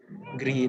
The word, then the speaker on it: gri: Gri itu abu-abu, hampir mirip bahasa Inggris juga, grey. Tapi ini bacanya gri.